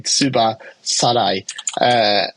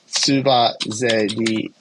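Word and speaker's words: tsubazeri: What you've written here, if I was to read that straight in Japanese, it'd be Tsuba Sarai. So it's Tsuba Zeri. Tsuba Zeri is the word, all right?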